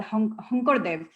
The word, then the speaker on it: Sankardev: polymath character who's called Hunkardev. He's written out as Sankardev in English, but his name is pronounced all S letters in Assam.